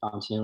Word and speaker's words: Shantanu: Hey everyone, my name is Shantanu, rhymes with Canoe, and I'm an officer for the Society of Physics Students.